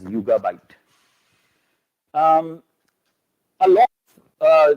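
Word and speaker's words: Yugabyte: source so and it's it's pronounced as yoga byte um a lot of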